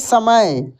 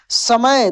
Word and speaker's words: समय: लेकिन दंत स का उच्चारण दांत से होता है। इसका ध्वनि दांत से निकलता है। जैसे समय, समय।